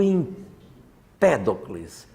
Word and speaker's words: Empédocles: Aí veio o Empédocles. Parece sempre que a sílaba tônica deles é trocada aqui, né?